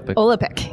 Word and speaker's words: Olapic: May mispronounce it. Olapic? Olapic.